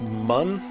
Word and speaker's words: Mun: I should say in in this game it's pronounced mun I believe I don't know sometimes